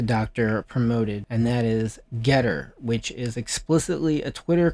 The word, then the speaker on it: Gettr: alternative oh no about getter yeah no it's it's uh been waiting for one though yep so i'm using getter at rw malone md is it spelled like g-e-t-t-e-r g-e-t-t-r so getter is it is explicitly